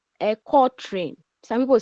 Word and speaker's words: quatrain: It is spelled quatrain, but it is pronounced quatrain.